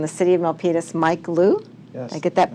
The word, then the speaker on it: Luu: We have from the city of Milpitas, Mike Liu. Yes. I get that pronounced right?